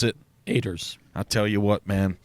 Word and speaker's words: Oeters: And so it's Oeters, and we pronounce it Oeters.